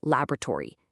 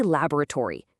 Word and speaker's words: laboratory: North American speakers will say laboratory, using three syllables. But British English speakers, they say laboratory, stretching it to four.